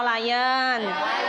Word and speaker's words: lion: terakhir ya Lon atau lion cara membacanya bukan Lon tapi Lion Good job sampai sini